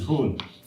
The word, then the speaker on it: Hoon: It's pronounced as Hoon.